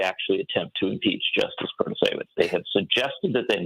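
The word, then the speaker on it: Protasiewicz: Protasewicz, am I pronouncing that correctly?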